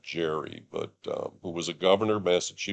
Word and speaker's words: Gerry: it's named after Eldridge I think it's actually pronounced Gary not Jerry but who was a